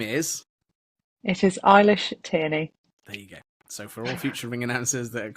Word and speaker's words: Eilish Tierney: It is Eilish Tierney.